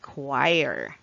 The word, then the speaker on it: choir: one two and three all right that's correct choir choir choir it's an organized company of singers